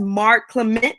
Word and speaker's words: Mark Clement: My special guest on today is Mark Clement. I want to make sure I say that right. Did I say it right, Mark? You did. You nailed it.